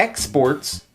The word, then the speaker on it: exports: exports to Cuba right so here we have a verb and a noun when it's a verb the the stress is on the second syllable exported and here when it's a noun the stress is on the first syllable exports so very often in English